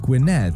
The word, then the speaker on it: Gwynedd: So for context, I was born in a country in North Wales called Gwynedd, sounds like Gwyneth, and as such I'm